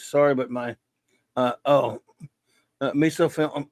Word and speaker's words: misophonia: Angel says, sorry, but my misophonia, how do you pronounce that?